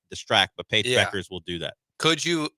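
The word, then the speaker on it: Bueckers: Yes, it is spelled in a way where you think it shouldn't be sound. It should sound like that, but it's Beckers.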